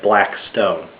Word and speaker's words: Blackstone: Judge Sir William blackston it's spelled like black stone but his name is pronounced blackston um a blacksman was